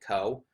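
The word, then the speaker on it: Kou: And the only other character we really got to focus on this episode was Go, or I guess she pronounces it Ko, um, just because she doesn't want it to be viewed as a masculine name.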